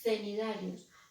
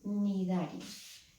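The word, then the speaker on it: cnidarios: Normalmente vosotros decís cenidarios. Bueno, eso está bien para que no se me olvide que lleva una C, porque si no la palabra no está bien escrita, pero no se dice. Son nidarios.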